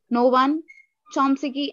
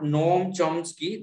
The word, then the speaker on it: Noam Chomsky: This is a view held by the Noam Chomsky, and this is the followers. Thank you, sir. Yes, Sri Lakshmi Kumari, that's great. Thank you. So this is not Noam Chomsky, that is Noam Chomsky.